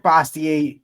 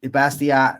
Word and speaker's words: Bastiat: Frederick Bastier Bastia. I for years I pronounced it bastier because I I figured with